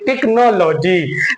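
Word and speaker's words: technology: नहीं बनेगा यहां बल्कि सी को का ही बोलेंगे टेक्नोलॉजी टेक्नोलॉजी बोलेंगे बल्कि हम टेक्नोलॉजी नहीं बोलेंगे क्योंकि हमारा एच यहां साइलेंट है आइए बड़ी तेजी के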